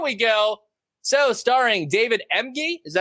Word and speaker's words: Emge: So, starring David Emge. Is that how you say it? Yes. Sure, MG.